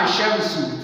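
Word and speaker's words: الشمس: The first one, Ashamsu, from Alif going to direct to Shin. So the lam, you can't pronounce the lam. The lam here is silent letter.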